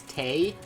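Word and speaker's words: Tewi: like a rabbit girl her name is tay but it's spelled t-e-w-i yeah right it's that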